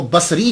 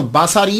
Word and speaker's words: بصری: یاد رکھیے گا کہ جب آپ اس کو تلفظ کریں گے تو باساری نہیں کریں گے، سواد کے اوپر زبر نہیں پڑیں گے۔ اگر آپ نے سواد کے اوپر زبر پڑا، باساری بن گیا، تو اس کا معنی